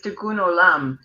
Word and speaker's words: tikkun olam: philosophy of life now the pronunciation for is uh it's hebrew and it's tikkun olam and basically it means that your purpose in life is to heal the world um one situation one